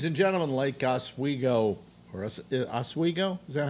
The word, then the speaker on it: Oswego: Ladies and gentlemen, Lake Oswego, or Oswego? Is that how it's pronounced?